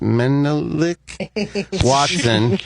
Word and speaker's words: Menelik Watson: It's pronounced Menelik Watson, and he's on injured reserve with a foot injury.